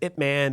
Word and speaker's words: Ip Man: You know, but then it's Ip Man, but no, it's actually Ip Man. Ip Man. Ip Man. That's actually how you say it.